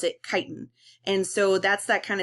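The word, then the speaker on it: chitin: I know that looks like chitten but we pronounce it kiten and so that's that kind of spongy texture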